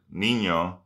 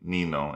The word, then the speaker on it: niño: palabra el sonido ny, por ejemplo, España no se dice Espana o la palabra niño no se dice nino y niño es um